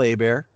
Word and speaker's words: Hebert: am i'm at a bear my name is spelt like hebert but it's pronounced a bear like a bear is tataki uh at